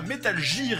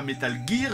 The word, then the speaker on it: Metal Gear: Et d'ailleurs, vous l'aurez remarqué, je prononce ça métal gir et non pas Metal Gear.